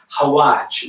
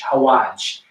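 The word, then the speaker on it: xawaash: So rather than using traditional Italian spices, as I mentioned before, we're going to be using something called hawaj, which is spelled X-A-W Aash, hawaj.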